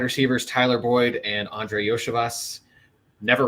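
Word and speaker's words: Andrei Iosivas: Andre Yoshevas. Yoshevas.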